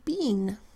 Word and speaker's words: been: and that says mm in this case the EE doesn't say e it says a short e sound ah hmm then therefore